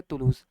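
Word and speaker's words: Toulouse: English Hindi क्या बोलेंगे इसको? तुलूज बोलेंगे, ठीक है, प्रोनाउंस करेंगे तुलूज।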